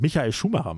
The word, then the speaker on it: Michael Schumacher: Schum Schumacher fighting uh that pronounced that very English. Michael Schumacher, it's called Mikai Schumah man.